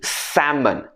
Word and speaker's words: salmon: it should be subtle another one with a silent sound is salmon salmon smoked salmon we don't say salmon or salmon it should be salmon next one is clothes